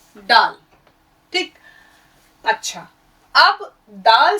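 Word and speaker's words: ڈال: फिर इस तरीके से डाल, आपका ये है डाल, ड, हिंदी का ड।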